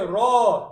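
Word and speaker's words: ر: Allah next well okay raw correct letter okay and it's pronounced from The Edge and the top part of the tongue touching the gums of the top four front teeth so if you go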